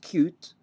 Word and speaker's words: Qt: application programmers interface and just like QT can be pronounced cute uh RT is also pronounced art so this is the